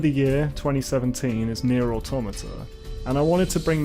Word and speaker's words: Automata: automata did and I'm pretty certain to pronounced automata because I speak English I just I love